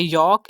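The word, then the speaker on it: yolk: हमने इसकी प्रोनाउंसिएशन करनी है टॉक, एल को साइलेंट करना है। थर्ड एग्जाम्पल है वॉक, फोर्थ एग्जाम्पल है यॉक एंड फिफ्थ एग्जाम्पल है फॉक।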